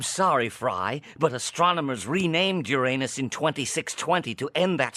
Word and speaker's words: Uranus: there's no foolproof way there's no foolproof way you're either saying urine or anus no matter what you